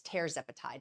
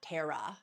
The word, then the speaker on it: tirzepatide: It's tirzepatide, not Tara. It's tirzepatide.